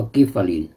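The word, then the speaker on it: Giffarine: ใหญ่ ๆ นะ ครับ g i f f a r i n e สะกด ว่า กิฟฟาริน คำ ๆ นี้ แหละ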